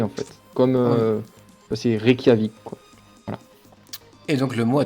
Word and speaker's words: Reykjavik: genre rec rec jamaïque le jce à se prononcer en fait comme ça c'est reykjavik est donc le mot a trouvé était juge